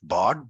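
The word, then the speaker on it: Bård: uh my name is board I usually when I speak to National people I call myself Bard because people start wondering why are you bored but that's just the Norwegian pronunciation um I would say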